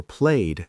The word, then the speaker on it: played: But stayed or played has a softer d sound.